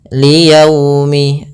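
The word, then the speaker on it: لِيَوْمٍ: namakan dengan bacaan Lin dalam pelafalannya harus lembut liyaumi agar menyempurnakan makhraj huruf wau kita agak monyongkan bibir kita ni yaumi ya dilembutkan yaumi Kemudian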